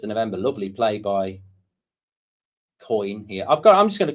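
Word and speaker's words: Köln: Sunra says it's pronounced similar to coin with a hard K. Coin.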